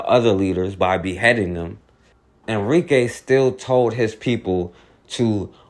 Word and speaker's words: Enrique: the Revolt of Enrique and I'm saying Enrique speaking English now they pronounce his name enriqueel but as speaking English we say Enrique now he organized his